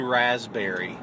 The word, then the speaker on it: raspberry: You know there's a P in the word raspberry? How stupid is that? Yes, R-A-S-P-B-E-R-R-I-E-S. Raspberry. Yeah. Who came up with that? I know. You don't say raspberries.